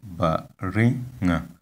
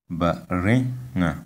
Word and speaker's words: baringa: Here we have the word baringa, baringa. You can see that the tone is on the second syllable or the second vowel, and it means this